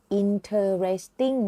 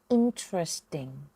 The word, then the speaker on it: interesting: He is so Smart น่า สน ใจ คำ นี้ เนี่ย ไม่ ได้ ออก เสียง ว่า interesting นะ คะ ออก เสียง ว่า interesting interesting มา พูด ทาง ประโยค